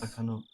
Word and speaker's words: Takano: Takano.